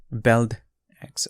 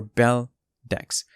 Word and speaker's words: Beldex: a new project that's called beld x or bell dex um the pronunciation is up to you it's objective whether you want to whichever way you want to pronounce it but in this video